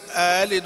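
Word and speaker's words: أألد: مشبعا، وإذا كان متحرك وإذا كان الحرف متحركا قصر، يعني تصير آلد. وكيف تصير؟ ها؟ آلد آلد كآدم وآمن، آلد آلد هكذا، آلد وأنا عجوز.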